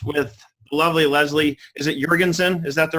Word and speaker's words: Jorgensen: Is it Jorgensen? Is that the right pronunciation? Jorgensen, yeah. Jorgensen.